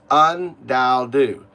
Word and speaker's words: UnDaoDu: It's u N as in un like understand unkind. Un the second one is okay. Okay. The second one is dao. D AO. Dao. It's pronounced dao. Somewhat like like uh like tao in tauism. Dao, right? Just with a d not a t, right? And third, it's do like do you like do you find,